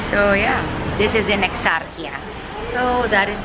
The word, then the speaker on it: Exarchia: at, it is in Exarchia. It's Exarchia when you like talk in English. When you like pronounce it in English, it's Exarchia. But when you pronounce it in Greece, in Greek, it's Exarchia.